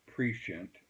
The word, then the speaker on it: prescient: someone I believe being very prescient or precent as some pronounce it was in an